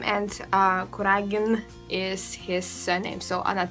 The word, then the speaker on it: Kuragin: is balona then we have the family of kuragin and here we have y vas kurina and